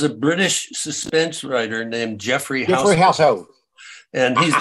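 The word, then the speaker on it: Geoffrey: British suspense writer named Jeffrey household and he's that's spelled with a G g-e-o-f-f-r-e-y I knew that too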